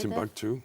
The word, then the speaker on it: Timbuktu: Timbuktu.